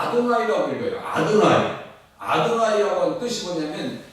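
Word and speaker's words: יהוה: 그것은 그 히브리인들은 다 아도나이라고 읽어요.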